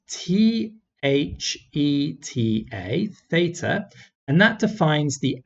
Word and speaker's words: theta: that before theta is a greek letter it's pronounced t h e t a theta and that defines the angle and so